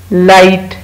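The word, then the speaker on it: light: लाइट, एल आई जी एच टी, लाइट, लाइट में भी जी H silent है।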